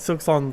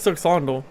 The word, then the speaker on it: Silksong: You have to like overpronounce it, otherwise you can't hear the L.